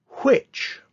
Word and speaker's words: which: Which, W-H-I-C-H, is one of the most commonly misspelled words because of silent letter. There's a silent letter in the H.